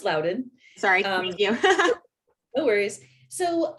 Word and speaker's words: Loudoun: about that a little bit yeah um it's pronounced Loudoun sorry um no worries so um so I